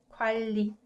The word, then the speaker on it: 관리: And the last example would be 관리, 관리. So you can notice that I pronounce it 관, 은 softened to 을리, 관리, right? And 관리 means management, management.